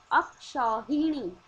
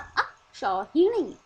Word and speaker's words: अक्षौहिणी: अक्षौहिणी, अक्षौहिणी ये सही शब्द है, और अक्षौहिणी ये सही उच्चारण है।